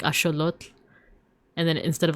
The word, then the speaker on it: axolotl: I wasn't sure if I was saying it right, but but I was saying like, you know, instead of saying axolotl, they would have said like axolotl.